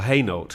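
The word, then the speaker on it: Hainault: France or Flanders h-a-i-n-a-u-l-t like that place in Essex which they call haynult here but that same word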